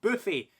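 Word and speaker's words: Boofi: Me and Mandy are going to a place called Boofy. It's spelled B-O-O-F-I, the way that you would say it.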